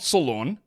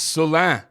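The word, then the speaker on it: Salaün: Like, some of the ones that people wanted to see, like Tijan Salan, they had the pronunciation as Lawn, lawn. It's not Solon, it's Solan. Tijan Salan.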